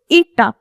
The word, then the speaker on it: eta: इसको हम pronounce कैसे करते हैं, eta, जिसको आप ऐसे लिखते हो, मतलब उसकी tail जो होती है वो लंबी होती है।